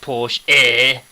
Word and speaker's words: Porsche: a Porsche yes yes it pronounced Porsche a you know you've got to get that pronunciation right here's a Jag do